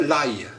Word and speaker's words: l'ail: Do you know, in France they pronounce that l'ail.